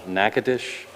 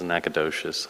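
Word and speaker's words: Natchitoches: that's coming in from which i didn't even realize uh how to pronounce it until she taught me they're from uh nakadish louisiana louisiana i thought it was nakadocious i it was she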